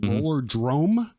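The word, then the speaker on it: Rollerdrome: did or did not is it roller drum it is like yeah like thunderdrum okay or or like uh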